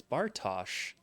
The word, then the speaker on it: Bartosz: Ooh, I actually got the pronunciation right. It's Bartosz. Like, more of an SH.